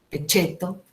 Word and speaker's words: pecheto: Deriva realmente la enumeración y aparece en el absurdo la palabra pecheto, pronunciada como en italiano, pecheto, y hasta el presidente de la nación de ese momento, que era Kirchner.